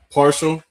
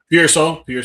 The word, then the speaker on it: Pearsall: Jawan Jennings, Rashad Parcell, I think that's how you pronounce his name. No, Pearsall, yes, thank you.